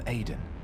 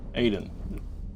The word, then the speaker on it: Edan: Remember, my friend, I'm Edan. Edan. Okay.